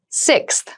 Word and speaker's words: sixth: Sixth. Sixth. Sixth. So sixth refers to the number 6 of something. This is a really good word to practice some pronunciation. Slow down that sixth, that middle part there.